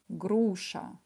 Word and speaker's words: груша: в чат молодец фев груша ударение на букву не груша отлично груша да давайте скажем вместе